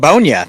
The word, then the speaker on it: Ogbonnia: Round 5 goes to your guy, UCLA defensive tackle, Otito Ogbonnia. You can say his name better than I can. You know him better than I do. It's Ogbonnia. It's just Ogbonnia. It's nice and simple.